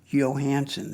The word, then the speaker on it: Johannsen: This is a handmade magnum Mauser with a double square bridge made by Reimer Johannsen, spelled with a J, but pronounced as a Y.